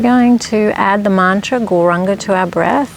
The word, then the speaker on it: Gauranga: So we're going to add the mantra Gauranga to our breath. The mantra is said in 4 syllables. Gaur, Ra, Ang, Ga.